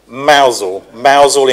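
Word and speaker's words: Mousehole: I must get the pronunciation right. Mousel in Cornwall on that's taken a while ago.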